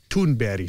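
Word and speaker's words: Thunberg: a point that Greta tunberg makes toonberry to pronounce her name as she pronounces it um makes and her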